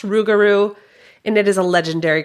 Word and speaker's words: rougarou: So, it's pronounced Rougarou and it is a legendary creature in Cajun and Creole culture.